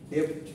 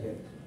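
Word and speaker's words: debt: আমরা করি একটাকে বলে ডেপথ আরেকটাকে বলে এটার উচ্চারণ হচ্ছে ডেপথ বারবার বলতেছি হ্যাঁ ডেপথ বললে কিন্তু লজ্জিত হইতে পারে ঠিক আছে সো এটাকে এটার উচ্চারণ হচ্ছে ডেট ইটি মনে হবে বিটা সাইলেন্ট হ্যাঁ আর ইকুইটি সো ডেট হচ্ছে কি বলছিলাম মনে আছে ঋণ হুম ঋণ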